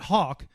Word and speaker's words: Haack: back to a lot is Hawk I'm saying it right right I had to look up the pronunciation see how often do people butcher your name I mean on the regular here I always get hack hack I'm sure you get